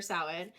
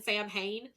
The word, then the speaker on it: Samhain: looking at it and I keep thinking that I'm saying Sam Hain, even though I know that's wrong.